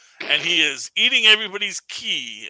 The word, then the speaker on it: qi: He is Goldhorn Penguin now, and he is eating everybody's chi, or it's spelled QI. And I learned that can also be a CH or a C sound, so that's what's going on there.